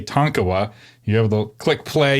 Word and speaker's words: Tonkawa: you have to say Tonkawa you have the click play you hear the author saying tonkola the correct way and then you say